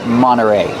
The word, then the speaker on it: Monterey: Monteray. You have NT. You don't hear the T when it's between vowels. Monteray. You can say Mterrey, but you'll usually hear Monteray.